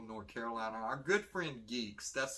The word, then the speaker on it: G3EKS: Our good friend Geeks, that's spelled G3EKS, are having their 2023 Geektacular Spring Comic Book and Toy Show.